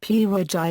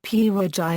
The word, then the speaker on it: pierogi: In English, the word pierogi and its variants, pierogy, pyrogy, pierogy, pierogy, pirohy, pyrogi, pierogy, purgeon, pyrogy, pirohy, pyrogi, and pyrohy, are pronounced with a stress on the letter O.